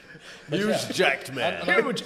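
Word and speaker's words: Hugh Jackman: Amman it's huge acman he's huge Jack Jackman huge Jackman Hugman not not just now man but then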